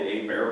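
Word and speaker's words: Hebert: at they're called the a bear box it's spelled h-e-b-e-r-t um so there are two areas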